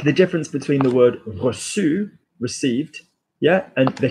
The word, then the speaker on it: reçu: All right, like the difference between the word reçu, received, yeah, and the Q, I've lived, hard C.